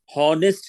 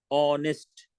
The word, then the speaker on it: honest: हॉनेस्ट नहीं कहते इसको, हॉनेस्ट। हा की आवाज नहीं आ रही, ऑनेस्ट, ओ की आवाज आ रही है, HONEST।